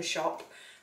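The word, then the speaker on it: Shoppe: This is from a company called The Maker Shop, and shop is spelled S-H-O-P-P-E, so The Maker Shop.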